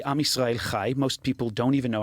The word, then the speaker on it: Am Yisrael Chai: Meanwhile, while Free Palestine sounds so awesome and approachable, we say Am Yisrael Chai. Most people don't even know how to spell it or pronounce it correctly. That CH is pretty difficult to get out.